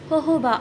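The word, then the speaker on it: jojoba: জোজোভা অয়েল হতে পারে actually জোজোভা অয়েল বলা ঠিক না আমাদের দেশে জোজোভা অয়েল নামেই পরিচিত বলে এটা আমি উচ্চারণ করলাম একচুয়ালি ইন্টারন্যাশনালি জোজোভা অয়েল কে বলা হয় হোহোবা অয়েল তারপরে আছে অলিভ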